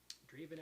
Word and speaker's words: Draven: Okay, so Draven Alexander, would you please unmute your device and turn on your video? Okay. There you are. And my name is pronounced Draven.